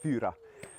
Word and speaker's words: Fyra: they are presented and fyra as a name when you pronounce it in original Swedish it's pronounced pura and it actually means